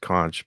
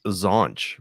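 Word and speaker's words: xonsh: I know it's supposed to be pronounced conch, but my brain says zonch because Zonch.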